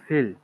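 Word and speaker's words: viel: ও আচ্ছা এটা ফিয়েল এটা ফিয়েল হবে না ফিল ফিল ফিল ফি এর উচ্চারণ আমরা কি করি ফাও না ফাও না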